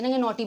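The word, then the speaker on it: knotty: शरारती ठीक है बोलते नॉटी बच्चा है या फिर नॉटी है उसका मतलब शरारती है अगर यह वाला नॉटी आ जिसके पहले आता है के जिसमें के साइलेंट है इस नोटी का मतलब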